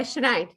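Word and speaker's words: Sinéad: Yeah, Sinead. Oh, is it? Yeah. That's spelled.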